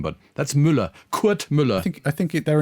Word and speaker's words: Müller: In German, you would say Müller. Is he German? I thought he was an American with a German name, but that's Müller.